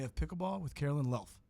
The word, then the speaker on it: Luelf: your last name o Caroline L like self oh why didn't you pronounce that in the email Caroline lelf that's it yes all right got